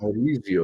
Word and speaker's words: Maurizio: I actually ordered the F cover, the How do you pronounce his first name? Maurizio? Maurizio.